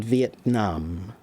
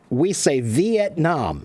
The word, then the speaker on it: Vietnam: When we say Vietnam, Vietnam, but I've heard enough Vietnamese that when they say it's Vietnam, Vietnam, it's much more like short.